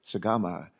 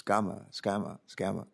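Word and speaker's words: Sgamma: And her name is spelled S-G-A-M-M-A. I wanted to call her Sagama, and she says, no, it's Scama.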